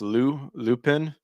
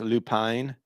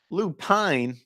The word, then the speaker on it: Lupin: I was pronounced Lupin, but I found out it's pronounced Lupine. It's strange, but it is what it is. I don't give a shit. Lupine.